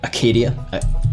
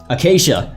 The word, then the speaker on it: Acacia: Professor Acadia. Wait, oh no, I didn't pronounce that right. Alright, Google. You're gonna do this for me. Akakia. Google Translate. I gotta type it in again. Sia. Acacia. Acacia.